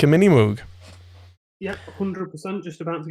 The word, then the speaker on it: Moog: Moog, some people call them Moog, but apparently that's how it's pronounced.